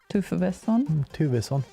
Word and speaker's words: Tufvesson: Tufvesson.